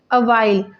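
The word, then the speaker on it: Avial: He named it अवाइल, OVR यहाँ पर लिखा हुआ है तो इसकी प्रोनाउंसिएशन के लिए है अवाइल, उसका नाम क्या रख देते हैं, अवाइल।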